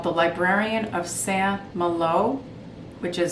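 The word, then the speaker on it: Saint-Malo: want to mention is called the librarian of san malo which is spelled s-a-i-n-t-m-a-l-o by mario escobar i gave this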